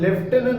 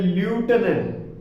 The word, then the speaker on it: lieutenant: Okay, लेफ्टिनेंट भी वैसा है, अपन लेफ्टिनेंट बोलते हैं, एक्चुअली वो प्रोनाउंसिएशन है ल्यूटेनेंट।